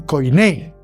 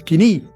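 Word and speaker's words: koiné: El idioma que hablaban era un griego mal hablado, aquí lo llaman coiné. Si a pronunciar verdaderamente en griego diríamos quiní.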